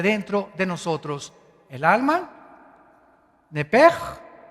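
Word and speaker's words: נפש: La palabra, la letra o las letras SH en el hebreo se pronuncian en hebreo como J. Entonces se pronuncia Nepej.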